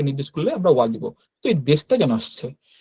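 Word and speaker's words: です: উচ্চারণ কি বলা আছে শেষের যে ইউটা অনুচ্চারিত থাকে এইযে ইউটা এইযে লেখা এই ইউটা অনুচ্চারিত থাকে অর্থাৎ সাইলেন্ট থাকবে উচ্চারণ হবে না।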